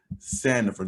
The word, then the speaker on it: Sandifer: uh so we're here with my guy victor sanderford did i say your last name right you